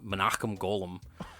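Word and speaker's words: Menahem Golan: guys who runs Canon I think it was monum golum I swear to God that's how that's that's how you pronounce his name and it's scary that I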